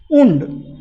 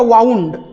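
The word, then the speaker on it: wound: आता उंड आपल्याला प्रचलित म्हणजे जखम. उंड म्हणजे जखम, पायाला किंवा हाताला लागल्यानंतर जी जखम होते त्याला उंड म्हणतात. आणि हा जो पुढचा शब्द स्पेलिंग सेम आहे, उच्चार काय झाला? वाउंड.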